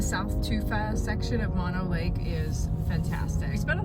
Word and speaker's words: Mono Lake: was very informational so I've been pronouncing Mono Lake incorrectly this whole time it's Mono Lake not Mono Lake thank you Visitor Center oh no like